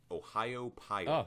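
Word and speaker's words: Ohiopyle: Ohio Pile.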